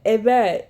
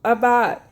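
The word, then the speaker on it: עבד: the letter ayin, bet, dalet, pronounced ibad, evad in Hebrew, avad in Aramaic.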